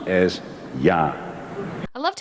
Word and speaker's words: ja: In Dutch, the English word yes and the Spanish word sí are pronounced as ja.